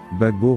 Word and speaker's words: Gbagbo: président Henry Conan Bédier Gill Christ DJ se prononce Bagbo refuse de saluer àessan aux obsèes du président